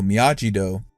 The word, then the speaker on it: Miyagi-Do: Johnny calls the dojo Miyagi-Do, the pronunciation that Daniel had to correct the announcer on in the finals of the 1984 All Valley.